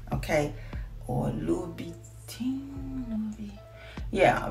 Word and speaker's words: Louboutin: I say it right, Louboutin. Okay, or Louboutin. Yeah, because when I say it, sometimes it sounds like it's coming out Louis Vuitton, but it is the Louboutin, the red bottom.